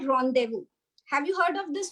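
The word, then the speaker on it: rendezvous: But it is pronounced as ronu.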